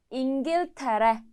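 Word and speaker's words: İngiltere: 잉길테레, 잉길테레, 잉길테레.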